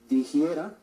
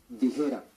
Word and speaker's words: dijera: Tampoco se dice digiera, lo correcto es dijera.